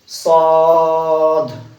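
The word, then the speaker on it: صاد: অনেকে এটার মধ্যে ভুল লাগায়, এটা করে সোয়াদ দোয়াত। আমরা ছোটবেলা পড়েছি সোয়াদ দোয়াত। সোয়াদ দোয়াত হবে না, হবে সদ।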